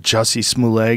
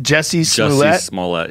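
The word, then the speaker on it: Jussie Smollett: gets caught like that Jesse small a guy when he got am I saying it wrong like Dave did no it's that juicy smooth a is it just Jesse small lot yes boy do you know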